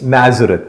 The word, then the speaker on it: Nazareth: the whole Christ thing he said Nazar not from there it's a proper noun we were curious Nazareth yes Nazareth now what they said